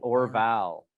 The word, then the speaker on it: Orval: but it's spelled weird it's o-r-v-a-l like or vowel oh like like Mark